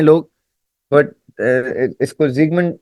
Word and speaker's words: Sigmund: तो जो इसको सिगमंड फ्राउड भी कहते हैं लोग, सिगमंड फ्रॉइड भी कहते हैं लोग, बट इसको जिगमंड जिगमंड इज the actual pronunciation as much as आई can recall.